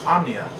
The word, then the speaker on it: Omnia: name's she would say my name is omnia like insomnia so people would know